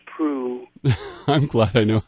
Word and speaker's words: Proulx: Oh, I'm glad you know how to pronounce Prue. I'm glad I know how to pronounce Prue, too. I am. I've seen that LX before and wondered how, yes, it's French, isn't it? It is. It's French-Canadian.